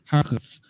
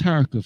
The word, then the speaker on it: Kharkiv: But I've come to learn that it's actually pronounced Kharkov. So that's Kharkov.